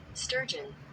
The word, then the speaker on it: sturgeon: Sturgeon. Sturgeon. It's weird because the gin is like GEON. So G Sturgeon.